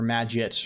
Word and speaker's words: Magit: Or I hate that name because either it's pronounced maggot and it has the git part is pronounced properly and it sounds like maggot, or it's pronounced like maggot and the git part, which is the crucial part, is not even said properly.